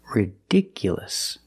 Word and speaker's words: ridiculous: look at this word ridiculous the stress moved to the second syllable ridiculous so the last two syllables are short it's not you it's